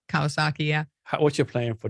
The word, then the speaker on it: Kawasaki: Kawasaki, yeah.